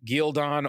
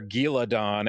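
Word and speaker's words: Ghealdan: have before argued about, is it Gildon or Giladon? As I think I said Geldon or something in my head. Yeah, Michael Kramer. I'll probably still say that. Geldon. You said something closer to what they're saying. Because that apparently is what they're going with, but Gildan or whatever.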